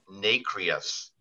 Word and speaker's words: nacreous: The inside of an oyster shell is nacreous. Nacreous or nacreous? Nacreous.